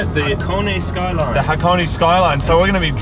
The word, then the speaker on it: Hakone: The Hakone Skyline.